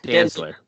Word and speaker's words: Dantzler: How do you pronounce his last name? Dantzler.